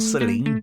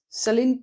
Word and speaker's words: Celine: It's Celine Dion. Yeah, no, it's not even that, is it? It's Celine Dion. Celine Dion. Yeah, she says that you don't pronounce the N.